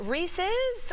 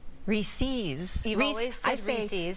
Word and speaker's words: Reese's: Well, is it Reese's or Reese's? Fans of the peanut butter cups have been divided on how to pronounce it over the years.